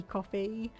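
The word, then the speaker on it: Ko-fi: you sent through viacom kofi coffee i'm not quite sure how it's meant to be pronounced i think it's just meant to be coffee though and we have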